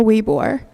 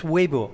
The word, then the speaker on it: Weibo: I just want to say about the Sina Weibo.